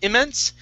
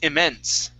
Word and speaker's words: immense: Stress at the end of the word instead of immense, it's immense. Immense.